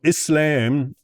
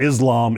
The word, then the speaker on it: Islam: Okay, so Islam, you know, I unfortunately I always end up pronouncing things like an American. It's not Islam, it's Islam and it's not Musl it's not